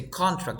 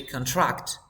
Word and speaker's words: contract: case is the verb you don't say contract you say contract you thank you he